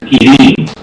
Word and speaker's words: Kieran: The correct pronunciation is Kirin.